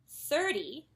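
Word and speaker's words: thirty: sound very aspirated whereas when we say 40 or 30 the stress is on the first syllable and the T is actually softened a little bit and this way you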